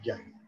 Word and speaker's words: Yagi: ¿Es Yagui o Yagi? ¿Cómo se pronuncia? Yagi, Yagi.